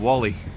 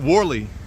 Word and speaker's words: Whalley: What have they got to be happy about in Whalley? They pronounce it Whalley, like war. War, civil war. No, it's Whalley.